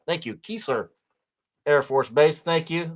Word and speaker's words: Keesler: It has two E's pronounced Keesler. Thank you, Keesler Air Force Base.